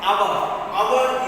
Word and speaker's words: hour: Hour is a H is a silent letter, so hour.